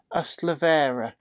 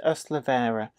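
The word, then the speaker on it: Ystalyfera: This is from the same valley, and that is pronounced Ustlavera, just in case you were taking a running jump up and thinking, my word, how on earth is that pronounced? That is Ustlavera.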